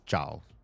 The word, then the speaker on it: Zhao: It's Zhao. J. It's like a J, but in the back of your mouth.